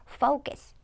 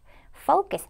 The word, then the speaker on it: focus: 조심을 하셔야 됩니다 그래서 오 발음을 길게 발음을 해서 입술 동그랗게 focus focus 렇게 발 발음을 꼭 해 주세요 자 그리고 저희가 이번에는